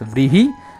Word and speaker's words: vrihi: if we take vrihi, let us pronounce like an English person, like an European person, vrihi. In Sanskrit it is known as vrihi. So if an English or an European person pronounces this, it will become as rihi.